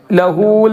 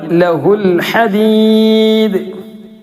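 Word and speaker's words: لَهُ الْحَدِيدَ: ലഹൂൽ എന്ന് പറഞ്ഞില്ല, ലഹുൽ ഹദീദ്, ലഹുൽ ഹദീദ്.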